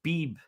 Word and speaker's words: Beebe: the 4th round, Cooper Beebe, the guard from Kansas State. Beebe. Yeah, that might not be how you pronounce his name, but it's B-E-B-E.